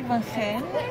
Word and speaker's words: Van Gent: My name is Van Hen.